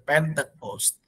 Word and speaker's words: Pentecost: Bahkan di dalam bahasa Inggrisnya pun pente, ya, bukan pante, tapi pente, Pentecost.